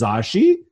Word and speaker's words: Zsaji: This alien chick is and her name is Zsaji. That's kind of 2 syllables, like Katya.